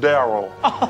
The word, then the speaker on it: Derell: Once we get out of here, once we scram, Derell is pronounced Daryl. Oh, like a white Daryl.